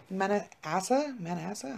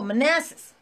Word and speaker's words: Manassas: Is that how you say it? Manassa? I don't know. Where is it? Are you fucking kidding me? We're barely at the start, Jean. Oh, Manassas.